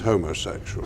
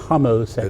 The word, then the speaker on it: homosexual: a straight Lan now you mispronounced the word it's was the first thing I had when I came out from a friend who was also closeted telling me it isn't homosexual homosexual it's homo it's homo is from the Greek not homo nothing to do with being a man it's the the same